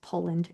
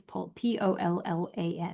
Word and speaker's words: Pollan: at the book because sometimes I say his name's Poland. It's not, it's Pollan, Michael Pollan.